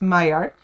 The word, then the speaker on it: Maillard: It is French, so that's why it's pronounced Maillard.